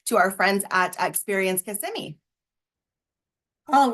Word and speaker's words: Kissimmee: So I've decided that it's Kissimmee by day and Kissimmee by night.